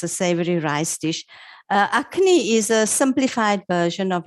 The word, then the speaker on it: Akhni: a rice dish and you're gonna have to pronounce it for me acne acne okay and then we're making we're making